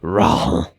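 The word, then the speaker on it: Rauh: Raw! Raw! There's just a really unnecessary H in there.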